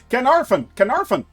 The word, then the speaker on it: Caernarfon: Caernarfon. Oh, really? That's how you pronounce it, Caernarfon.